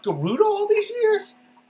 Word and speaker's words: Gerudo: like as a kid i always thought this was like gerudo but then like in breath of the wild they say yes go to the gerudo it's like whoa it's pronounced garuda all these years like